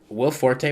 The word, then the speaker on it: Will Forte: she was not good at portraying that um will forte was great i thought he was really funny